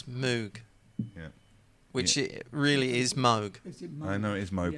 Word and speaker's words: Moog: We were talking about that earlier that how you pronounce Moog. Yeah, which really is Moog.